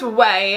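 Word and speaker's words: Ouai: finishing product it is the way I think is how you pronounce the name of the company I always have this problem anytime I talk about these products but I'm pretty sure it's away and it's the hair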